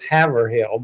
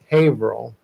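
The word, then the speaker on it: Haverhill: The way the way that it's spelled is Havill, but it's Habil Police Department.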